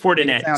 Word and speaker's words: Fortinet: tonight for tonight for tonight i'm going coordinated fortinet so it's a it's the leonard fortinet championship